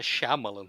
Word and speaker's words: Shyamalan: porque é Marcelo que está dizendo, que é Shyamalan. Eu jamais falei Shyamalan como Shyamalan na minha vida, mas agradeço. Eu não sei se está correto. Mas nos trailers eles falam M. Night Shyamalan.